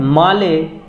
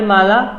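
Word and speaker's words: Malé: Question number 28 है माले किस देश की राजधानी है? मेल इसको नहीं पढ़ना है, माले होता है, ये स्पेलिंग गलत है यहाँ पे।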